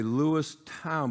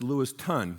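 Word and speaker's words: Lewiston: um out of uh I want to say Lewis town but it's lewison yeah I get that right Clarkston area and um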